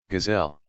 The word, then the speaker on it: Gazelle: Gazelle. Gazelle. Gazelle with a silent E in the end.